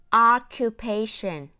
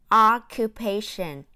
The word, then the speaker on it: occupations: nghĩa là nghề nghiệp a cong lưỡi jr nhấn hâm nó kiu thấy xanh sẽ cong lưỡi ha occupations occupations Em sắp ăn cuối